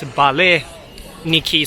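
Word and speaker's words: вареники: So interesting about Russian character is that it says a B-A-P-E, right? But P is pronounced as, used as a R in Russian Ukrainian, so it's Vareniki something.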